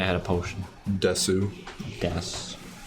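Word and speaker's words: です: Most people pronounce it Ow. Des. If you pronounce it Desu, you're like going way too hard on trying to be polite. They have used in that language. No, it's just it is like spelt Desu. Yeah. It's just that most of the time when U's are like barely pronounced, so it would just be Des.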